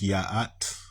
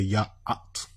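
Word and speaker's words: יעט: But this is pronounced Ya'at. So you got that glottal stop right there, Ya'at.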